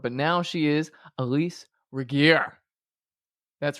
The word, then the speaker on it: Regier: You may have known her as Elyse, but now she is Elyse Regier. That's right, with the hard G. You can also pronounce it Regier.